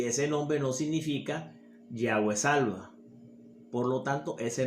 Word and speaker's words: Yahweh: Y ahí salen esas 4 letras llamadas tetragramatón, que es YHWH, con el agregado de 2 letras para poder pronunciar ese nombre como lo pronuncia un hebreo, que son la A y la E, Yahweh.